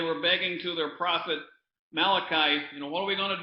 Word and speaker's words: Malachi: And that comes from Malachi. And being an Italian, I like to pronounce that Malachi. I call him the Italian prophet.